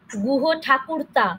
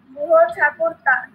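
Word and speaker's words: গুহঠাকুরতা: আরেকটা হলো, তুমি গুহ ঠাকুরতা বলেছো, আমি কিন্তু এইটা উচ্চারণে শিখিয়েছিলাম। গুহ ঠাকুরতা বলো তো আমার সাথে। গুহ ঠাকুরতা।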